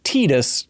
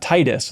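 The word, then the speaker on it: Tidus: I was floor when I learned that it's tetus and not Titus like what what do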